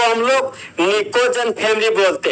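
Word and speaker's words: pnicogen: जहां पर निकोजन का जो दोस्त आपका फर्स्ट लेटर जो आपका पी है वह आपका साइलेंट होता है।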